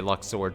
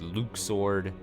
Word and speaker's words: Luxord: to I like Lux sword or I say Lux sword still I know the official pronunciation is Luke sword or so but Lux sword uh was his